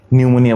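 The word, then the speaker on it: pneumonia: নিউমোনিয়া বানান পি নিউমোনিয়া, psychology বানান পিসাই চলো যাই।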